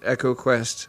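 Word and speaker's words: EcoQuest: we we didn't mention Echo quest which is probably pronounced Eco Quest but I don't like saying it like that um you don't like Eco Quest I'm the other way around I I I instinctively call it Eco Quest but the talkie version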